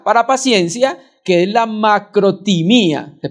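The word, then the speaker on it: μακροθυμία: Y hay otra palabra, que es la que traduce acá para paciencia, que es la macrotimía. Se pronuncia así.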